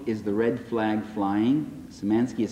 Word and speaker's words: Szymanski: Szymanski is spelled S-Z-Y-M-A-N-S-K.